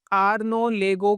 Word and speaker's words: Arnaud Legoux: तो सबसे पहले नाम आता है आर्नो लेगो का वैसे आप इसको कुछ और भी पढ़ सकते हैं। प्रोनंसिएशन थोड़ा मैंने बोला टिपिकल होता है। नेशनलिटी फ्रेंच है। इसमें देखिए डी साइलेंट है इनके नाम में एक्स भी साइलेंट है।